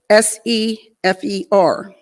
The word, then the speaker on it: sefer: a bat safar b-e-t but pronounced bait that s-e-f-e-r pronounced sefer now this also this means the house